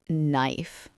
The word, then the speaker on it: knife: Like knife. There's a K, but you don't say it.